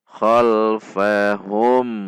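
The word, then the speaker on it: خَلْفَهُمْ: Selanjutnya jika diwasal dengan kalimat di depannya, maka mim sukun ini dibaca izhar syafawi karena di depannya bukan berupa mim dan bukan berupa ba. Sehingga cara membacanya tidak boleh dibaca panjang, tidak boleh dibaca dengung, namun dibaca jelas dengan sifat dari huruf mim.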